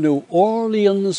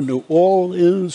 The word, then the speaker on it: New Orleans: And, you know, in New Orleans or New Orleans or New Orleans, no, you couldn't get in the radio with that. You had to hit the 4 syllables.